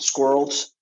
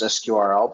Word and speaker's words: SQRL: we've gone around and we've definitely heard it pronounces sqrl but also squirrel is the intent and the way it